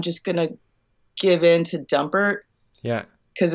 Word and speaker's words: Dumpert: Dumpert?